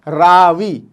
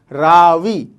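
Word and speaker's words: راوی: और दूसरा लफ्ज़ देखते हैं रावी, रे अलिफ वाव ये, रे अलिफ वाव ये, रावी, रावी।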